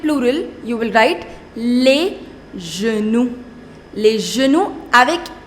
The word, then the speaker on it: genoux: Le genou, les genoux. You will not pronounce that X.